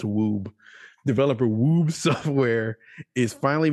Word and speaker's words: Wube: Is it Wube? No, there's no accent. That's Woob.